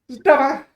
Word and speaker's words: Deva: It's diva, right? Diva. What is it? Someone correct me if I pronounce this. Deba. I think it's Deva. Deva. Thank you. Yeah. Deva.